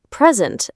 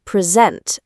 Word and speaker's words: present: Or present, as in a gift, versus present, as in verb. Present versus present.